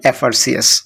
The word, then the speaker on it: FRCS: 28 number, he ইজ FRCS, এখানে এফ যদিও consonant, but এফ এর উচ্চারণে এখানে এফ, এই যে এ ভাওয়েলের একটা উচ্চারণ আসে এফ, এ দিয়ে শুরু, এই জন্য এখানে অ্যান হবে।